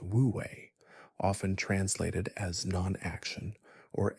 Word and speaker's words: wu wei: Zen, however, introduces us to the concept of wu wei, pronounced wu wei, often translated as non-action or effortless action.